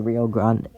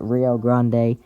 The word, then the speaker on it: Rio Grande: A swath of large hail and severe winds is possible along the Rio uh excuse me the Rio Grand Rio Rio Rio I guess is how you say it Rio Grande Valley from midafter afternoon to evening.